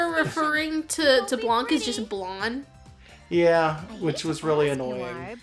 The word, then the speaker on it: Blanc: to Blanc is just blonde yeah which was really annoying yeah I guess technically in French you would pronounce it that way the C would be incredibly subtle if it's there at all I don't know the